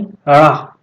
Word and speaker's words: ड़: क्योंकि जब हम इसका उच्चारण करते हैं तो इसके उच्चारण में हमारी जबान उछलती है। उच्चारण करके देखिए, ड़ा। जब ड़ा बोलेंगे तो जबान उछल करके आगे को दांत से टकराती है, इसलिए इसे उच्छिष्ट व्यंजन कहा जाता है।